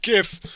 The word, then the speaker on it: GIF: Oh, that's awesome freaking GIF right there. It's pronounced GIF. Oh, we say GIF over here. Oh, G's for graphic, man.